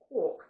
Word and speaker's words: quark: Yes, that's how you say it, is quark.